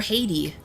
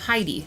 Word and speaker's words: Heidi: No, they were calling her Haiti. Two different characters a stream and a half ago said Haiti instead of Heidi.